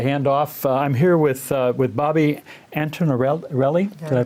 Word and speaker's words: Antinarelli: I'm here with Bobbie Antinarelli. Did I pronounce that right?